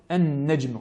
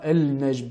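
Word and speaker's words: النجم: Elle est assimilée à la lettre suivante, donc comme An-Najm. Nous ne dirons pas Al-Najm, ni Al-Sama, mais bien As-Sama.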